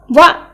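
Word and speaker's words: は: Okay, so when you use wa as a particle, you need to pronounce like wa, but in other words, it pronounced as ha.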